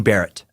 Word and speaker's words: beret: update from green beret I think it's actually pronounced green Barret Joe Paisley told me